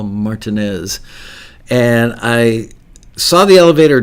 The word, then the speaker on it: Martinez: at the hotel martinez not pronounced martinez as you might think but it was actually called the hotel martinez and i saw the